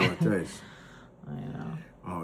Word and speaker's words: aglio e olio: How do you pronounce it? Ali-olio. And how it tastes? Ali-olio.